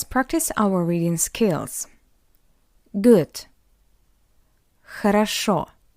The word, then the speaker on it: хорошо: Хорошо. Хорошо. Because the first two O are unstressed, that's why we pronounce it as A.